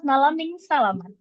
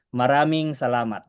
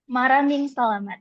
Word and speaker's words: Maraming salamat: Salamat malaming salamat. No, it's pronounced as this. Maraming salamat. Maraming salamat.